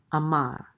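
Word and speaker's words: אמר: And then we have an aleph with a kamat, which says a, and this is a mem with a patak, which says ma, and the resh closes the syllable out to say mar, amar, and that means said.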